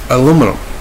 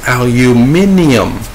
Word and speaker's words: aluminium: over it you know a big surprise to me was aluminum here in America we call it a Luminum we even spell it that way over in England though its aluminium which I and they